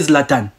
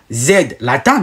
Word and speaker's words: Zlatan: Quand vous prononcez Zlatan, vous ne dites pas Z, Latan. Non, vous prononcez Zlatan. Vous le prononcez normalement.